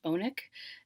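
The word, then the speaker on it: Alnwick: spelled like almwick but he tells me it's pronounced bonik and um that castle is also in the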